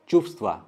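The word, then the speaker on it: чувства: यहाँ पे आप व कभी भी होल प्रोनाउंस नहीं कर पाएंगे, तो सिर्फ एक हवा निकलेगा, चुफ्स्वा।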